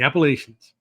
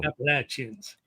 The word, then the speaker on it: Appalachians: The Appalachians. No, absolutely not. That is not how they're pronounced. Look, you can call the region Appalachia. Yeah. Or you can call them the Appalachian Mountains. It's a hard CH.